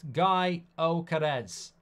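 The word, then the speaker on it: Gyökeres: a funny Instagram clip apparently his name is pronounced guy Oz what nationality is he guy oares sporting lisman Striker is Swedish here's Lukaku to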